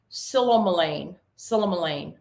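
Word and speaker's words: Psilomelane: it and I'm hope I'm saying it right silan calan PS i l o m e l a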